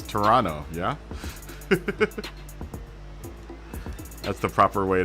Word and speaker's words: Toronto: Canadian from duh or or Toronto right not Toronto it's Toronto yeah that's the proper way to pronounce Toronto Toronto Toronto it's Thursday night man everyone's gonna